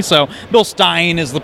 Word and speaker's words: Bilstein: yeah you could say Bilstein but it's a German company so bill Stein is the correct pronunciation